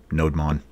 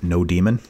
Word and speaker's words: nodemon: script, which is running NodeMon. Or, you know, if you want to pronounce it NodeMon, you can do that. If you want to pronounce it NodeMon, like Pokemon, you can do that.